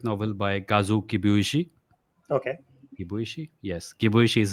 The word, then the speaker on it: Kibuishi: Kibuishi. Yes. Kibuishi is how you pronounce his name.